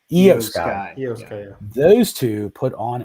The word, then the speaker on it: Io Sky: How did she pronounce her name? Io Sky. Io Sky.